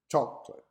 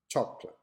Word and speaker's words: chocolate: even odd for example the word chocolate in english is a true syllable words with stress on the first syllable chocolate chocolate however this international word